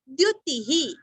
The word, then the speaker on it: द्युतिः: भास्कर द्युतिहि, जैसे पहले बताया ना, द आधा यू रस्व द्यु, ती रस्व, विसर्ग का उच्चारण भी रस्व ही, द्युतिहि।